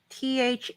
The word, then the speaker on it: Thandiwe: Thandiwe.